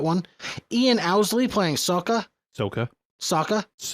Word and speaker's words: Sokka: A name I can absolutely not pronounce, playing Katara. I want to. That one. Ian Owsley playing Sokka. Soka. It's Soka.